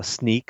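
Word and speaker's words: Snyk: the first one was uh sneak snick however you want to say it it's been pronounced both ways they raised 200 million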